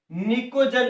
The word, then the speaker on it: pnicogen: ये स्पेलिंग होती है इसकी, PNICOGEN, निकोजन कहते हैं।